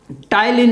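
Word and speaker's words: ptyalin: तो ये जो एमालाइज या फिर उसको हम जो है टाइलिन भी कहते हैं, और इसमें भी बच्चों पी आपका साइलेंट होता है।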